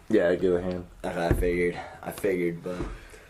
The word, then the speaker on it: Gillihan: I pronounced that correctly, right? Yeah, Gillihan.